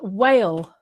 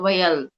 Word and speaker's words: wail: Veil and wail. Veil and well. Yes, veil and wail. Wail. Mm-hmm. Wail. I think pronunciation of L is wail, not whale.